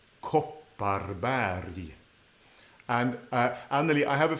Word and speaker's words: Kopparberg: So not berg, but berg. Kopparberg.